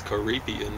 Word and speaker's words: Caribbean: time with loved ones Caribbean that's three syllables and yes for us